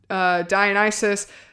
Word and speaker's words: Dionysus: It sounds like something that the character would say, whether it's Annabeth or Grover or Chiron or Dionysus.